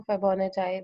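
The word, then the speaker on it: Fibonacci: फिबोनाची number, फिबोनाची number, different लोग different pronounce करते हैं इस सीरीज को, लेकिन मैंने जब गूगल पे देखा था तो गूगल पे लिखा हुआ, गूगल ने प्रोनाउंसिएशन जो बताई थी वो फिबोनाची बताई थी, फिबोनाची।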